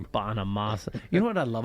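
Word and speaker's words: Bonamassa: Bonamasa. You know what I love about Bonamasa's name? It's phonetically spelled, too. Like, it's really easy.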